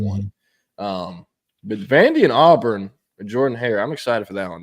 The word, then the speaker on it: Jordan-Hare: So Auburn had an 11 Jordan-Hare. That's how you pronounce it.